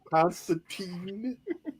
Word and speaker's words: Constantine: walked up coin constan he kept saying his name wrong he like it's Constantine he looks at the